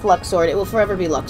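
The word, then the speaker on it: Luxord: until the third game so everyone's just been pronouncing Luxor like Luxor you know the proper way in my opinion yeah and then you finally hear his name pronounced and it's Luke sword and everyone including me went on our rants about this hard I hate it I hate it it's luck sword it will forever be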